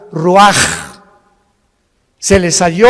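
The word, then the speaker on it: ruach: capítulo y exhaló Isaac el Roach así como suena se pronuncia la c en hebreo como J ruaj se le só y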